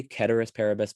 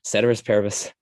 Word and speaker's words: ceteris paribus: a terrorist saint parabus i know people say keturis paribus but again that's one of those cases where i'm just like that sounds like nails on a chalkboard to me it's like valacella it's like ugh it's valicella it's ceteris ceteris paribus anyway um oh yeah